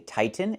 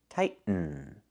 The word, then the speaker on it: tighten: We cannot pronounce the T as a fast D. The word is pronounced two different ways. You can say tighten and make a real